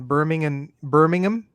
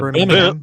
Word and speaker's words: Birmingham: So one of his friends, Tessa Osborne, while in Birmingham, that's how they say it, right? Not Yeah, Birmingham.